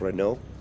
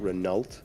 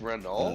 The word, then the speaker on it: Renault: showing um it's pronounced Renault it's not renal it's Renault um Renault so just say it without a t huh yeah and um